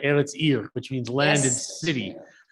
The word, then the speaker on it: Eretz Ir: Anyway, yes, Eretz Ir is the pronunciation. Is that correct? Eretz Ir, which means land and city.